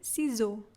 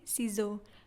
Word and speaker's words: ciseaux: So it's des ciseaux, des ciseaux. Remember, when the S is, there's only one S in the middle of the word, it's pronounced as z, z.